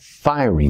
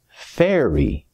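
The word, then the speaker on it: faerie: It's not fiery magic, Anita. It is pronounced fairy magic.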